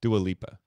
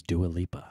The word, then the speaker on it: Dua Lipa: topic is music videos oh the i still can't pronounce her name right help me out the is it britney spears oh duolippa do a leap the answer you're looking for is dua lipa do it lipa i didn't